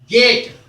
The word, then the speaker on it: gait: तो इन दोनों का उच्चारण बिल्कुल एक है।